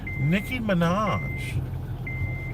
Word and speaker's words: Nicki Minaj: And what's also interesting is that Nicki Minaj, is that the way to say her name?